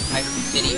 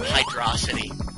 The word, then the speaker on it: Hydro City: I feel like we're playing Hydro City again. I always call it hydrosity.